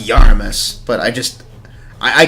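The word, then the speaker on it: Iarumas: have to actually like read his name it's pronounced yaramis but I just I I can't think of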